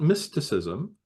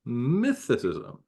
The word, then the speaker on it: mythicism: This week we'll be talking about mythicism, not mysticism, mythicism. It's an often misunderstood and mispronounced position.